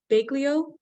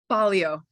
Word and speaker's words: Balio: um and joy you're pronounced your name bleo is that correct balio balio I knew I got it wrong the best Joy balio